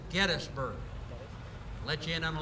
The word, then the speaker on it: Gettysburg: people that are forign if you say Gettysburg we know you ain't from here the locals pronounce it gettsburg let you in on